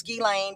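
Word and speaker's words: Ghislaine: And Gain Maxwell, I know her name is Gilain. Don't even bother me about the pronunciation.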